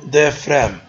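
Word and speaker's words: diaphragm: سايد وهذا الواسع اسمه ديفرام وانا بذكركم يا ريت الكل لما بقول ديفرام الجي لا تلفظ الجي سايلنت ديفرام مش ديفرام نو يبقى معناته ديفرام وهذا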